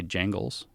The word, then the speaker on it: Jangles: He goes by Jangles. Jangles, like Mr. Bojangles? Without the bow part, like just Jangles.